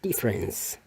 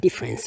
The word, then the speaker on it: difference: Okay, the only thing is ini adalah bunyi S, sedangkan ini bunyi T. Bahkan T ini tidak diucapkan, you know, it's up to you. Banyak orang bule tidak ucapkan juga. Jadi difference, like hey, what is